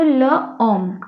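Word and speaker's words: l'homme: तो एच, और एच क्या होता है फ्रेंच लैंग्वेज में जनरली साइलेंट होता है, ठीक है। तो एच के बाद वाला जो भी हमारा लेटर होता है उससे साउंड स्टार्ट होती है।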